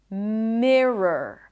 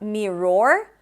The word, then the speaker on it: mirror: You start with me, and then it's an R, schwa, R. It's not mirror, but me, relaxed me, rrr. So R, schwa, R, rrr. It has to be quick, rrr.